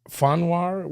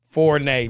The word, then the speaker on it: Fournier: Fonwar? Fonwar? How do you say that name? Fournier? Fournette? No, Fournier. Fournier. Fournier. There you go.